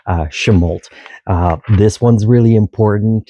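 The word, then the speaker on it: Chemult: And then the little town near there is called Chemolt, which again has the different pronunciation, with the last part being hyphen or pronounced harder, Chemolt.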